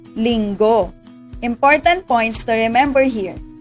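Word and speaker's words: Linggo: of week is lingo let me pronounce it by syllable ling go lingo important points to remember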